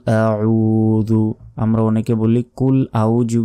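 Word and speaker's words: أَعُوذُ: আউযু, উ এখানে এক আলিফ টেনে পড়তে হবে, জাল পেশ জু, জাল অক্ষর অবশ্যই জিহ্বা বের করে উচ্চারণ করতে হবে।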